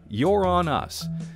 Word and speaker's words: Uranus: Because the technical way that you're supposed to say it is Uranus. However, most people don't pronounce it that way, and thus the jokes